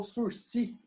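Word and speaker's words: sursis: último agora, análise do sursi. O que é o sursi? Aqui, ó. Sursi. Esse S aqui a gente não pronuncia, não.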